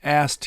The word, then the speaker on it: asked: ASKED is very hard to pronounce. So the pronunciation is in the past tense, just if you were to write it, it would be AST. I asked him.